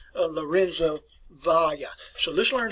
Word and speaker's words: Valla: the name of Lorenzo Valla. So let's learn how to pronounce that. Valla, not Vala or Vala.